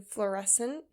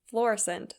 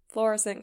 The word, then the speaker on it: Florissant: He was a rancher who was living about 1,100 miles away from Kelsey in Florissant, Colorado. Okay, I'm just kidding. I just looked it up and it's pronounced Florissant, so Florissant, Colorado.